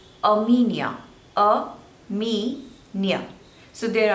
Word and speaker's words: Armenia: or Argentina they both are correct next is Armenia Armenia a me Nia so there are three syllables and you have to stress on the seconds label or media a Mania Armenia next is Australia Australia again three syllables and